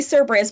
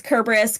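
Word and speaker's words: Cerberus: kerberus for ex example there is no Soft C Sound in the Greek alphabet so like people will say cus but that's not how it's pronounced it's kerberus kir things like that so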